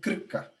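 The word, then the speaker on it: Krka: o Parque Nacional de clica eu tô aprontando aí para ensinar pronunciar eles falam com acento no R Olímpio que pareça é isso mesmo muito legal pois esse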